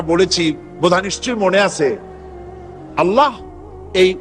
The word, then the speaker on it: আল্লাহ: বোধ নিশ্চয়ই মনে আছে আল্লাহ এই উচ্চারণটা আমাদের অনেকের হয় না কেউ বলে না আল্লাহ আল্লাহ পাকের উচ্চারণটা হচ্ছে আল্লাহ পাকের নাম হচ্ছে আল্লাহ মুখটা একটু গোল হয়ে যাবে বলেন আল্লাহ আল্লাহ